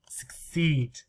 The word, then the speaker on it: succeed: you do it first the spelling helps us know how many syllables how many syllables succeed succeed so we can hear succeed succeed too but also we can see s u c c right consonant vowel consonant consonant two consonants we know we should